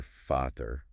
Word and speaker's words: Vater: And the German V. The German V, pronounced V, sounds like an English F. Like in Vater, father. Exactly. You hear Vater.